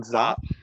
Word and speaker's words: Czop: Oh, that's Zop, John Zop. Zop. So the C, it's right. The C in front of his, because his surname is CZOP.